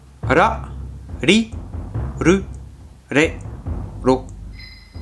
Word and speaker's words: ら: Alors ça se prononce entre un R et un L, vous voyez? Ra, ra, ra. Pas ra. Par contre, on ne roule pas ces kanas comme des R espagnols, hein.